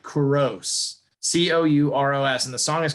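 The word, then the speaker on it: Couros: say his name it's c-o-u-r-o-s so it's like corrose c-o-u-r-o-s and the song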